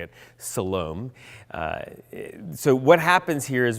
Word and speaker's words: Siloam: That's how you say it, Siloam.